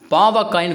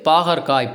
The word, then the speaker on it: பாகற்காய்: பயறு அடுத்ததா என்ன குடுத்திருக்காங்க பாவக்காய்ன்னு குடுத்திருக்காங்க பாவற்காய் கிடையாது பாகற்காய் பாகு கூட்டல் அல் கூட்டல் காய் அதாவது இனிப்பே இல்லாத ஒரு காய்ன்னு சொல்லுவாங்க அதனால என்னது பாகற்காய் சொல்லுவோம் நம்ம வந்து பேச்சு மொழியில என்ன சொல்லுவோம் பாவக்காய் பாவக்காய்ன்னு சொல்லுவாங்க ஓகேவா அடுத்து ரொம்ப அப்படிங்கறது